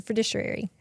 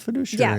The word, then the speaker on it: fiduciary: step into relationship to be the fidiciary. I said it wrong, didn't I? I did it get it somewhat right. That's southern. Yeah, sorry. It's what you get. The money managers. No, stick with fiduciary.